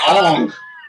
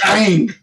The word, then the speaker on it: Aang: It's not Ong. It is not Ong. It's Aang.